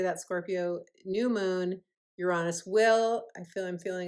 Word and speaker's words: Uranus: and directly or the new moon will oppose Uranus is the exactly the correct way to say it.